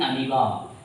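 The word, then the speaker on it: amoeba: तो इन अमीबा अगर बात करते हैं, अमीबा क्या बात करते हैं? अमीबा, अमोइबा स्पेलिंग के लिए, ठीक है?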